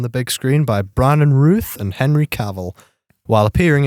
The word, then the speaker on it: Routh: I don't have It's Yeah, just Ruth. Bron I was like everyone you speak to is just like a different pronunciation for every given a strange um strange film.